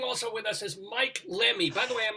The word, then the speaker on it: Lemme: Laughing also with us is Mike Lemme. By the way, am I pronouncing that right? Is it? Yes, Lemme? Rabbi, you are.